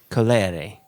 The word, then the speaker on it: Colere: Colere. Yeah, because the first E is colere, and the second E is a.